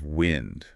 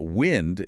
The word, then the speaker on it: wind: The natural movement of air is wind, like a gentle breeze. Right, pronounced with a short I sound like sin.